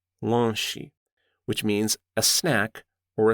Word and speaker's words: lanche: Renata quickly explained that in Brazil, people often say lanche, lanche, which means a snack or a small meal. It's spelled l a n c h e.